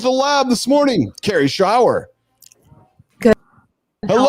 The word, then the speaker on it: Schwear: She says Schwa. I'm like, Mom, it's not Schwa, it's Schwear.